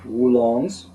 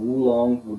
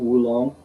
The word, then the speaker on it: oolong: your other green rolled oolongs. That just a note there. Some people will say oolong, double O. The Chinese mainland pronunciation is often wulong, W-U, wulong.